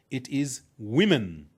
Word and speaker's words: women: And specifically, we don't say womans in the plural, it is women. Note this word, it's very confusing. It's spelt W-O-M-E-N, but it is pronounced women, as if there's an I in the beginning, because it sounds so